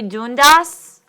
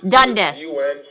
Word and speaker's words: Dundas: up is a dune dass main jail do we know where odd are you mister dune dass and how do you say your last name sir Oh Dundas okay thank you I apologize mr.